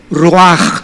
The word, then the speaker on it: ruach: Apunta en la palabra espíritu, la palabra hebrea ruach, tal como suena, R-U-A-C-H, ruaj se pronuncia.